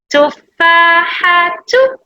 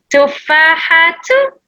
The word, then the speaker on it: تفاحة: Tufahatu.